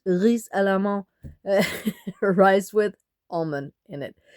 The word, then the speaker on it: risalamande: We just say it like that, risalamande. We said a bit Danish, but it's risalamande, rice with almond in it.